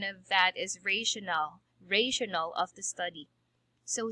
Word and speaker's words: rationale: r you heard it from other teachers maybe rationality of the study before i used to call it rationality of the study that's for r but the correct pronunciation of that is rational rational of the study so here it is